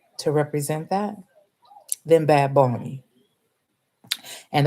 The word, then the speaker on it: Bad Bunny: present that then bad bony and that's how you have to say his name you cannot say bad bunny is bad bony okay so uh Trevor